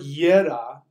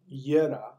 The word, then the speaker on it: Jera: These two, a gear, the word Yera, the way it's spelled Jera, Yera, is also pronounced gear, Gear.